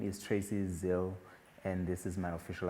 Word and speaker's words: Tracy Zille: There was an account created on Twitter called Tracy Zille. I think it's a Tracy Zille, yeah, if I'm not mistaken. That's how it's pronounced, Tracy Zille.